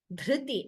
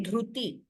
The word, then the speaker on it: धृति: Dhriti, and also this has to be pronounced as R, not as U.